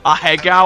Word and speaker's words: Ahegao: I don't know if that's how you Oh god, a Hegao, I think it is. Lovey-dovey couple. Oh no. Ahegao. Ahegao? That's how it's pronounced?